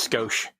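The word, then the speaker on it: skosh: It's not scotch. It's scoch. I don't even know how to pronounce my words we stole from Japanese correctly.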